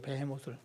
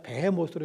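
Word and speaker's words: 베헤못: 동물인지 알 수 없으니 그냥 히브리어 원 발음 그대로 그냥 배해 모으로 요즘에는 영어도 그렇고 어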